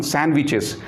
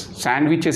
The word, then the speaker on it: sandwiches: First of all, I would like to say about this one, sandwiches. Many of us, we do the mispronunciation of this word, sandwiches. Sandwiches is wrong, sandwiches. Here D is silent in this word.